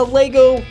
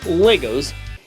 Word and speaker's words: LEGO: Of course one can argue that the whole movie is actually product placement for LEGO's It's pronounced LEGO not legos. There's not an S at the end of LEGO get your facts straight.